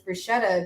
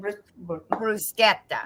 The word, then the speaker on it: bruschetta: Bruschetta. Bruschetta. So, bruschetta. Oh, very good, Megan. I like that. You rolled the R in there. That sounded nice.